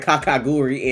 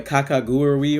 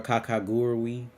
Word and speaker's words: Kakegurui: Because I just call it Kakaguri, and then OD was like, you missing a whole U, because she speaks Japanese.